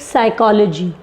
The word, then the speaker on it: psychology: Let's take psychology, P is silent.